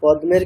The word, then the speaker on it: পদ্ম: উচ্চারণের এরকম রীতি সংস্কৃত আমরা কোন যুক্তাক্ষরের ক্ষেত্রেও আমরা কোন অক্ষরের উচ্চারণকে আমরা স্কিপ করতে পারবো না। এখানে পদমা এরকম বলতে হবে।